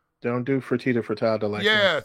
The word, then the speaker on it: Fertitta: it says don't do fertitta for todd yeah something like frittata fertitta whatever your name is yeah